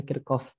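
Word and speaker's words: Kirchhoff: Menurut Hukum Kirchoff Hukum Kirchoff tulisannya Kirchoff tapi dibacanya kircoff itu hukum satunya Jelaskan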